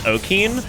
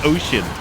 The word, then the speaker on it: ocean: And like logically, I mean, why the should it be pronounced ocean? Why should first grade brain understand that that C becomes an SH?